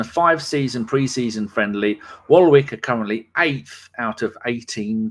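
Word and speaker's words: Waalwijk: and here we go a little bit of pronunciation for you here rkc wall wick w a a l w i j k that's just gibberish in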